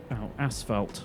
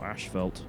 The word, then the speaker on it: asphalt: Ashfelt or Ashefeld depending on exactly which region you're in.